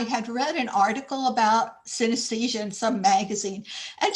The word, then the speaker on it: synesthesia: It's about a woman with a condition known as synesthesia.